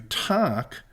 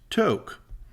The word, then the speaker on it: Tok: in throughout the videos you'll hear us refer to talk but it is actually pronounced to my sincere apologies to